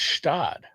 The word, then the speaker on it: Gstaad: I believe it's Stad. Stad. Stad. We'll see about GSTAAD. The Is it spelled like the Alpine town?